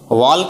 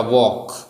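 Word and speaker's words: walk: वॉल्क नहीं बोलेंगे, L silent रहता है, ठीक है। छोटे बच्चे यहाँ पे वॉल्क बोल देते हैं, मैं काफी सालों से पढ़ा रहा हूं तो मैं बता सकता हूं, ठीक है। I used to वॉक, L silent रहेगा, वॉक।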